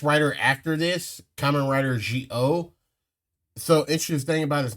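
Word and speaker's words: Zi-O: So interesting thing about his name is that the Z and the I in Japan is done with the J sound, like the J sound. So instead of being Z-O, it's G-O. It's G-O, like that.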